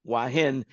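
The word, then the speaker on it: Hua Hin: and inexpensive and everything that you could want wahin it's spelled h u a h i n if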